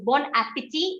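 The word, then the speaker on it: bon appétit: like to learn is in general the last letter of a word is not pronounced yes that was the first rule that we learned but if your second word starts with a bubble if your second word starts with a bubble so bon appetit a starts with a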